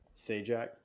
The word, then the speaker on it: Zajac: and tribes as ajax okay and ajax ajax say jack zajac z-a-j-a-c okay that guy because i'm terrible pronunciations um but um the california definitely did